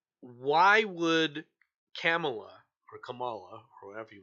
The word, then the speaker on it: Kamala: what I learned because I used to call her Camala and apparently the way you pronounce her name is like Pamela but with a K oh okay camela that almost sounds that's